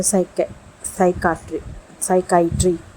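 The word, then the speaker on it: psychiatry: तो पहला example silent letter P का जो है, जिसके बाद एस आता है, वो साइकाट्री।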